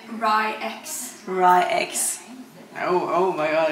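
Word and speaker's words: RY X: We watched an interview with him and you pronounce it Rye-X.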